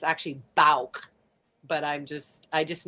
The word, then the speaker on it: Bouck: And I bet you people literally called it B Bo Bach, but it's not Bach Bach. It's not Bach. It's it's like B. It's that's how you say it. Balk.